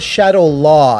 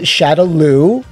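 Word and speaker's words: Shadaloo: can get one wrong that was Shadow law and even then I think that was just a mistranslation like it wasn't them purposely trying to mispronounce something the van Dan movie got it correct at least to me it shadowloo and I think in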